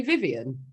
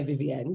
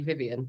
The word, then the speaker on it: Vivienne: How you pronounce it? It's actually Vivienne. Right. But I suppose maybe you could say Vivienne because a lot of people do, but I say Vivienne or Viv.